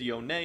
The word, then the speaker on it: Yone: and most important thing his name is yonei it's not yon it's not whatever else you pronunciation you want riot has officially announced that it is yo-nay so make sure you